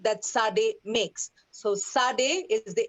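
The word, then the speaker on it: tsade: uh is okay like remember the word boots okay how is the ts pronounced there that's how you would pronounce okay i'm just uh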